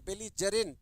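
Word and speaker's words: belligerent: अर्थ होता है बेलजेंट ज में पढ़ते हैं ग में नहीं बेगजग्रेंट नहीं बेजरेंट बेजेंट ज में उच्चारण लोगे बेजेंट के लिए बच्चा हमारे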